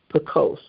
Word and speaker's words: Pekoske: Pekoske.